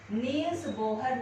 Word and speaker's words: Bohr: इसकी कमियों को दूर करने के लिए बेटा फिर नील्स बोहर नाम का वैज्ञानिक, बोहर भी कह देते बेटा और बोर भी कह देते हैं, BOHR होती स्पेलिंग से, नील बोर ने अपना मॉडल दिया।